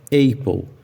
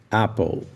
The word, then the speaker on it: apple: Agora você consegue entender porque a pronúncia da palavra apple não é apple, porque na palavra apple nós temos uma vogal curta e não uma vogal longa. Então, quem não sabe disso, pronuncia com a vogal longa A e fala apple, mas o correto é apple.